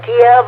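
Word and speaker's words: Kyiv: Whether it's Kiev, I still pronounce it Kiev. It's Kiev, but I still pronounce it Kiev.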